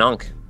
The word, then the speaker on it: Ankh: Yeah, it's like an Ankh.